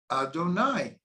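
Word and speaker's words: אֲדֹנָי: But the name Yud-Kei Vav-Kei is written those 4 letters, but we pronounce it Adonai. We don't pronounce it the way that it's written.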